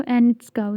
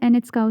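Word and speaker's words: Anitschkow: wait a minute so एनट काउ sales एनट काउ नहीं ऐसे नहीं टी को इतना प्रॉमिनेंटली प्रोनाउंस नहीं करना एंड इट्स काउ सेल्स ठीक है सो प्लट सेल्स और एन काउ सेल्स आपको मिलते हैं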